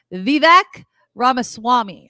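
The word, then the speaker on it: Vivek Ramaswamy: anymore so we could focus on people like vivec ramaswami I don't know if I'm pronouncing that correctly Kim you got it good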